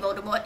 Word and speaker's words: Voldemort: Rowling will jump on the bandwagon and she'll suddenly reveal something like, oh, the T in Voldemort is silent, and then everyone will just go crazy.